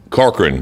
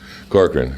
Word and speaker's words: Corcoran: How would you pronounce that now? Let's see. Corcoran, thank you, sir. Corcoran, Steve Corcoran.